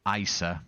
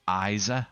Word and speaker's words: Isa: Um, not Isa, but Isa, I think they pronounce it.